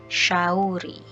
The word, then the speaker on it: shauri: So we also have a combination of S and H. That will give the sha sound. Sha. Like an English example here, ship. Sha sound. So a Swahili example that you have here is shauri.